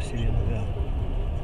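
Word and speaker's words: Селенга: Селинга буквально год назад узнал, что ее ударение на последнее слово Селинга.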